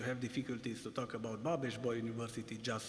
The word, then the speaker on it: Babeș-Bolyai: We gather under the roof of one of Romania's most storied institutions, Babeș-Bolyai University.